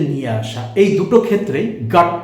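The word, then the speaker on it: gotta: তো গট টু দুটো শব্দকে সংক্ষেপে উচ্চারণ করা হচ্ছে গটা।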